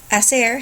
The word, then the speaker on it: hacer: why I might call this verb The Loner aser has its own predate tense forms thead l